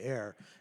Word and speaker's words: Ayre: It's not a super complicated piece, but it's called Air and Dance. It's spelled Ayre, and Dance by, I believe, Bruce Pearson is the composer of it.